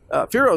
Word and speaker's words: Firo: big innovation in Pharaoh Pharaoh is spelled f-i-r-o by the way if you're wondering but the next big